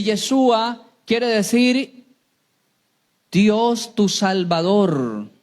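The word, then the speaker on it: ישוע: y pondrá su nombre Jesús en hebreo se pronuncia yeshua yesua y yeshua quiere decir Dios tu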